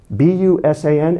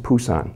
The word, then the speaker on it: Busan: of books you'll see it's spelled the bee b-u-s-a-n it's actually pronounced Busan sometimes you see a spell p-u-s-a-n the proper